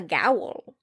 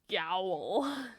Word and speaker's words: gaol: kremlin road jail and it's spelled in that super old-fashioned g-a-o-l way which i just i love it a gowl gowl yeah a fiddly d potatoes